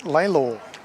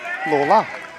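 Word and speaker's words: Lalor: Tom tells us it's pronounced Laylaw. But then... That's what I said, wasn't it? Mitch says Lawler. Yes, well. Oh, but the suburb is known as Laylaw.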